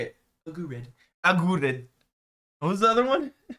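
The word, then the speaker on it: Aguerd: Agurd.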